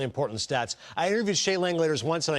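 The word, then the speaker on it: Langeliers: stats I interviewed Shay Lang leaders once and I go rhymes with chandelier right he's like yeah that's what I always tell people Shay lers rhymes with chandeliers well he was hanging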